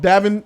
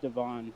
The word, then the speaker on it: Davin: Davin, welcome to Jody's Corner. Joe Dirty, welcome to Jody's Corner. Davin, talk to me. Yeah, you hear me okay? Yes, I do. All right. And it's pronounced Devon.